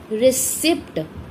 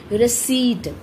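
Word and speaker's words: receipt: इसको रिसिप्ट बोलते हैं, बट इसकी सही प्रोनाउंसिएशन जो है वो है रिसीट, र ई स ई ट, रिसीट। इसमें प है जो वो साइलेंट है।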